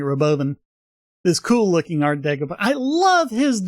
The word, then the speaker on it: Robovan: of that the Roven it's spelled Rovan but Elon kept pronouncing it Roven this cool looking art